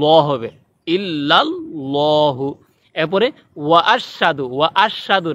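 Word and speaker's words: أشهد: অনেকে বলে আশহাদু। আশহাদু হবে না, হবে আশহাদু। সঠিক উচ্চারণ আশহাদু।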